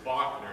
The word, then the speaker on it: Wagner: And the composer is not Wagner, it's Wagner. Everyone say Wagner.